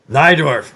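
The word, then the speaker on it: Najdorf: who made a fantastic thigh Dorf is n aj d ORF and it's because he's polish and in in Poland since my mother was polish otherwise pronounced like a tie and he moved to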